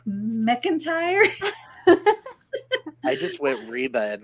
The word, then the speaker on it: McIntire: pronounce your last name McIntyre you said it right the first time I was trying to say it without the a in there and I was like McIntyre I just went Reba